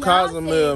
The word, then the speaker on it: Cozumel: We been saying it wrong the whole time. It's called Cozumel, man.